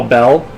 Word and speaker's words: Belle: Oh, Belle. Oh, is that okay? Uh, the last E is silent. Okay, bell.